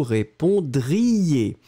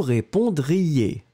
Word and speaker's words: répondriez: Conditionnel, vous répondriez. Donc il y a vraiment, vraiment une importance très grande dans le « ie », d'accord ? Je le répète, hein, nous répondrions, vous répondriez. Je dois entendre le « ion »,« ie ».